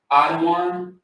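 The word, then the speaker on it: אדון: This is how you say Adawan. Adawan. So you got the da, and the wan.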